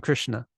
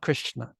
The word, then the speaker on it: Krishna: and it sounds fat this is the s in Krishna Krish it's not Krishna it's Krishna Krishna it's a fat deep Bassy s and then finally we